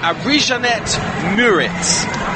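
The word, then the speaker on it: Arijanet Murić: Fabian Delph and I'm reliably informed it's arisia net muris is how you pronounce the manchester city substitute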